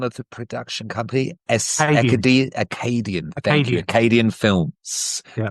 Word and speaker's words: Acadian: Acadian.